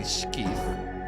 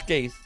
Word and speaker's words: Skeith: But no, it's neither. It's Skaith, because E before I is clearly pronounced A, like Canada. A. Skaith.